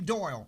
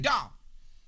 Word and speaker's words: Doyle: and he would say he couldn't pronounce my lame doyle he could not say doyle he said dog and i'd be like